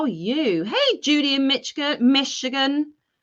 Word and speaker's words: Michigan: Hey, Judy in Michigan. I've got to remember there's a shh in that, not a ch.